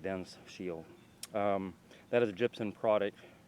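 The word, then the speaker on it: DensShield: It's called Dense Shield, D-E-N-S, Dense Shield. I pronounce it Dense Shield.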